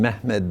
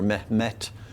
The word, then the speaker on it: Mehmed: the following uh major sultan mehmed the first or met uh that it's frequently spelled with a t instead of a d at the end that's the turkish form of muhammad and the yeshal jama